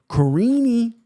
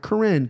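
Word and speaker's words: Karine: 225 versus Catlin soza Carini and that's how you pronounce the name too Carini not Corinne Carini she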